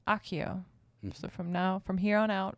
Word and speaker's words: Accio: So and then second thing, Accio is Latin and pronounced Accio with like a KK sound.